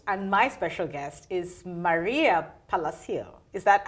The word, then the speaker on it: Maria Palacio: virtual your host and my special guest is Maria Palacio is that how I pronounce it yes Maria Palacio oh yes the director at the Acton Memorial